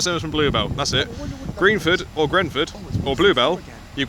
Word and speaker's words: Greenford: If you want to do it properly, Greenford. If you want to do it incorrectly, Grenford.